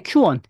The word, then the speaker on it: Qwen: 소식 중 하나가 알리바바의 q1 예 q1이라고 읽더라고요 qwen 예 알리바바 q1 2.5